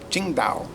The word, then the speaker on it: Tsingtao: She said, no, it's pronounced Qingdao.